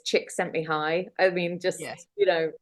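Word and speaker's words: Csikszentmihalyi: great idea I love phonetically it's chick sent me High I mean just you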